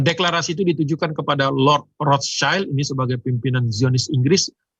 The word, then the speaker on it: Rothschild: Jadi waktu itu Zionisme mengandalkan proyek-proyek Rothschild ya, bacanya sebenarnya yang benar katanya Rothschild ya, karena SCHILD itu bukan child tapi bicara adalah shield dari bahasa Jerman kuno yang artinya ya shield kalau kita sekarang bahasa Inggris itu tameng.